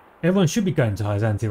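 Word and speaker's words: Hyzante: Oh, it's Hyzant. I'm not supposed to pronounce the E.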